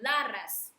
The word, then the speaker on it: Laras: imagine light there, and we pronounce the mantra like La Ras.